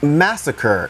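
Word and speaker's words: Masakr: I believe this is pronounced Massacre.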